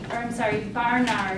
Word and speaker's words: Barnard: Barnard is how you pronounce his name.